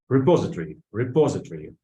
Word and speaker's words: repository: Repository. The stress of the second syllable, ударение на второй слог.